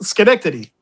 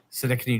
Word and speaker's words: Schenectady: Schenectady. Schenectady, New York.